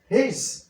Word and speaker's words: he's: হি is apostrophe S হিজ এখানে এস এর উচ্চারণ দন্তস না হয়ে হবে জ তাহলে কি হলো এখানে হিজ that means হি is ideal one হিজ ideal